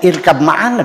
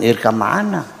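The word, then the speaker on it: ارْكَب مَّعَنَا: Orang Arab yang nonmuslim, agamanya Nasrani, baca Al-Qur'an ya bacanya irkab maana dong. Bukan irkam maana gitu.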